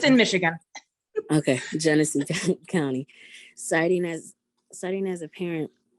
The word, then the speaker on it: Genesee: Genesee County. It's a county. It's in Michigan. Okay, Genesee County.